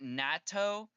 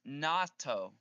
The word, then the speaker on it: natto: He pronounced it natto, but it's natto.